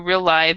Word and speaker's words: realize: word right here realize what what what you did when is you missed the S part you kind of swallowed that part so so you employers who realize that cool comfortable workplaces